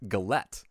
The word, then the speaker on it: galette: First of all, I think it's pronounced galette. I don't think it's galet. Maybe it could be galet. It's a French word.